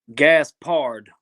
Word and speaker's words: Gaspard: Gaspard, like to me, it's nothing at all to say it. So You it's know, Gaspar or Gaspard? Gaspard with a D, but Okay, that's what I thought.